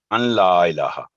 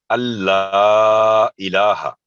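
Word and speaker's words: أَنْ لَا إِلٰهَ: उसके बाद जो गलती होती है अन ला इलाहा। तो यहाँ पर क्योंकि ला पर तशदीद है, इसलिए नून साकिन की आवाज बिल्कुल साइलेंट होगी, वो बिल्कुल नहीं बोली जाएगी, साइलेंट है यहाँ नून साकिन।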